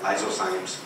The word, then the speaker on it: lysozymes: The cervical fluid has lysozymes, you pronounce that like that, lysozymes, which is antivirus and bacterial too.